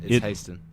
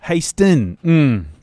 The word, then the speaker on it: Haisten: So it's Haisten. Haisten.